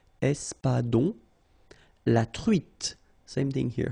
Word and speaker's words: espadon: L sound, sol, l'espadon, O-N in your nose, nasal, on, espadon, la truite, same thing